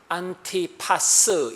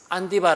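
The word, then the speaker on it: 안티파스: 디바 를 배출한 교회입니다 이안 디바 에 정확한 발음은 안티 파스 입니다 안티 파썬 안 디바 라는 수교 자가 2000년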